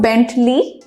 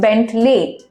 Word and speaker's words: Bentley: the canonical children correctly but it's not Bentley its Bentley l ey lay low